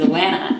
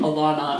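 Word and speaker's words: Alanna: the Lioness series with Alana, and then Alana, I guess as she's called. I've always pronounced it Alana.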